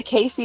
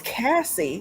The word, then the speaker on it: Cassie: Do you say Casey or you say Cassie? It's Cassie, like Cassandra, but Cassie for short.